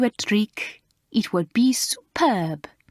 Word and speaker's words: superbe: "Ah, if I played you a trick, it would be superb," said Mademoiselle, pronouncing it the French way. "Superbe.